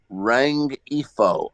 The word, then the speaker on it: Rengifo: Luis, Luis Luis Rengifo, Rengifo of the Angels, and this is for Katrina a hell yes. Spell that last name again. REN. Ngifo, Rengifo.